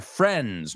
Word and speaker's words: friends: ¿Cómo se pronuncia friends? No friends. Es como si la I no estuviera.